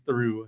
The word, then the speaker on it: Theroux: But well, because it is like it's in the French, it is ooh. The OUX is ooh.